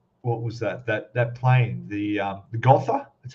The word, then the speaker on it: Gotha: I saw your other what was that plane, the Gotha, that's how you say it?